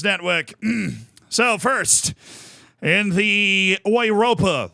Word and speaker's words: Europa: So, first in the Ouropa League, I believe is the correct localized pronunciation, we had Roma defeating Sheriff Tuspole 3-0.